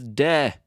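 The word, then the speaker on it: で: we mark it with another particle which is dead d e not d-a-y huh I wonder how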